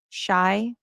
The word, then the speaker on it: Shai: how you say it you pronounce it shy shy we're all going